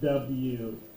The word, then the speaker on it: who: who it's like a question and that is w-h-o but the h or the w is silent but that's good that you were able